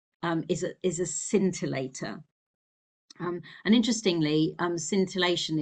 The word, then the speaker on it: scintillator: The crystal is what's called a scintillator. It's spelled s c i n t i l l a t o r.